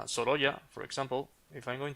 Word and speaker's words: Sorolla: pronounce this guy as a Sorolla? It's Sorolla. not like a Solora? No, Sorolla.